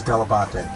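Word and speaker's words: Dell'Abate: The proper way to pronounce it is Delabate. When I was growing up, my dad sort of Americanized it. My grandparents said Delabate, but my dad sort of Americanized it as Delabate because that's how people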